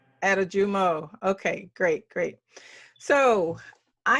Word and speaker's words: Adejumo: jumbo correct yes correct okay why don't you pronounce it for me so i get it correctly uh attijumo atajumo okay great great so i have seen a